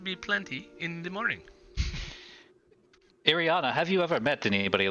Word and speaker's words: Ireena: Ireena, have you ever met anybody like Krim? Ireena. Oh, Ireena. What did I call her? Ariana?